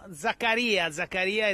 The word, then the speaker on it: Zakaria: Zakaria is the right pronunciation.